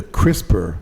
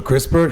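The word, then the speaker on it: CRISPR: reading the article on this, they used the crisper technology. Oh. And if you and and when I saw that and crisper is spelled C R I S P R.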